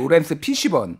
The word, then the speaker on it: 로렌스 피시번: 맷 데이먼, 아까 로렌스 제가 네. 발음을 정확하게 안 했는데 로렌스 피시번, 네.